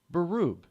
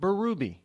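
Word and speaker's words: Barube: Here in New Hampshire, they pronounce that last name Baroob. Some people pronounce it Barubi. Some people even pronounce it Barabee.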